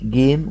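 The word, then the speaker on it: game: سي اسمه اي اي فلاقي كلمه زي دي جيم كلها كلنا عارفينها جيم الاي اللي وراها حرف بعدين وراها اي بت ازاي جيم جيم يبقى الاي الاخيره مش منطوقه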